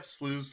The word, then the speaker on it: VanDerSluys: Yeah, Slews, Slies. Slies? I like Slies better.